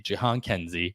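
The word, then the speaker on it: Jhonkensy: still mess it up uh it's Jan Kenzie Jian Kenzie Noel uh first baseman Prospect for the Cleveland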